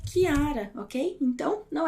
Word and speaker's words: Chiara: Então, sempre que depois do CH tiver um I ou um E, como você pode ver ali, você vai pronunciar esse CH como o som de K ou de Q, ok? Por isso que eu gosto tanto deste som, porque o meu nome, como é meu nome é Chiara, ok?